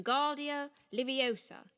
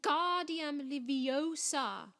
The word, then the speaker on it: Wingardium Leviosa: much more luck when guardia liviosa he shouted waving his long arms like a windmill you're saying it wrong harry heard hermione snap it's wim guardium leviosa make the gar nice and long you do it then